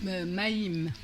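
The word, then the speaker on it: מים: gandalina alors l'eau c'est maim maim maim Alors la première syllabe c'est ma ma deuxième syllabe C J I Mim Maim C'est bon ?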